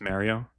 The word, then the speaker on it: Mario: Maddie, I don't know if you say Mario too, but it's not Mario, it's Mario. That's a New Jersey accent thing.